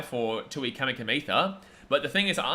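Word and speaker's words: Kamikamica: Kama Kamakai for Tui Kamikamitha. But the thing is, I understand the C. Obviously, C in Fijian is pronounced TH.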